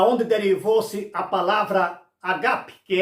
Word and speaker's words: ágape: dele fosse a palavra Ágape que é amor é Ágape não é Ágape a palavra é paroxítona Ágape mas todo mundo diz Ágape mas observação é